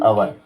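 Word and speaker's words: hour: तो व्यंजन है एच, मगर एच है, मगर इसका उच्चारण होता ही नहीं है, उच्चारण तो अ का हो रहा है ना, इसलिए एन अवर।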